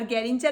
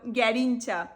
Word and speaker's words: গ্যারিঞ্চা: আমার নামের প্রোনাউন্সিয়েশনটা হলো গ্যারিঞ্চা, কিন্তু বেশিরভাগ মানুষজন আমাকে গ্যারেঞ্চা, গারিঞ্চা এইভাবেই বলে।